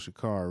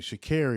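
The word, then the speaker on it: Sha'Carri: How y'all How y'all let little old Shakar Richardson get locked up for domestic assault? Excuse me. Sha Richardson. Yeah, I've been saying it wrong.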